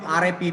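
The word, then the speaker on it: wrapped: next one WRA w r a p p e d that letter W silent there it will be pronounced as rap so rra it means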